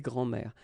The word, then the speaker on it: grands-mères: Okay, so des grands-mères. As I said, phonetically it's the same anyway, because it will be une grand-mère, des grands-mères, and then des grands-mères. Okay, so phonetically the same form, but you've got to